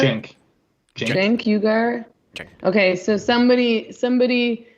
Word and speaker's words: Cenk: Cenk Ugar.